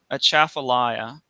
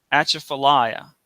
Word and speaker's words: Atchafalaya: I say it Atchafalaya because there's no at in it, even though people who have lived here forever sometimes say. Atchafalaya, pronouncing it all broken, like the T is to be said, as if it has